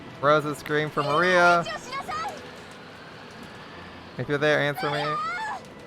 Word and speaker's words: Maria: now we have but Mario it should be Maria we are emphasized severally because the circus but yeah six years ago Maria was three years old it should be because it's Maria it's three syllables not Maria uh three is not